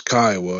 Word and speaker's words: Kiowa: private chat before you open your mouth it's Kiowa and you know to say it right all